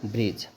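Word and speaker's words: bridge: डी जी ई देखो जी के पहले बोले हैं कि डी आएगा उसका प्रोनंसिएशन नहीं होगा तो यहां पे क्या हो जाएगा ब्रिज ईडी जी ई एज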